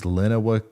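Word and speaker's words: Lenawee: and city name wrong it's Lenova County to come see Tecumseh Michigan here's your prepayments all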